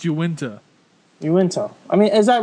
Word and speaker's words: Uinta: UInta. UInta. Come on, Tim. Why do they say it like that? You called it UNITA one time on the when we were first doing this show.